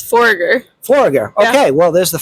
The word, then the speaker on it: Foregger: Today I am joined by Forager. Am I pronouncing that right? It's Forger.